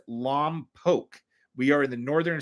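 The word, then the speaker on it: Lompoc: Oakla, you pronounced it correctly. It is Lomb Poke.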